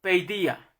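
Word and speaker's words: παιδεία: testamento es la palabra se escribe paideia país de ella así se escribe la verla la biblioteca logos hermanos lo pronuncia como pedía pedía entonces esta palabra manos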